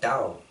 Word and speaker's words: Tao: the tao in china by the way china actually say dao we're kind of pronouncing that that way is way simply is